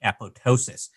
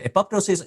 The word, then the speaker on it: apoptosis: of that should be apoptosis it is not you do not the p is silent where the word was